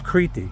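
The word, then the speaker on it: Κρήτη: I'm Greek and they correct my pronunciation of criti. It's criti.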